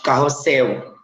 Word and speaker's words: carrossel: Elas são bem, no caso, tipo carrossel. Carrossel é uma palavra que se escreve com L no final, mas tem som de U.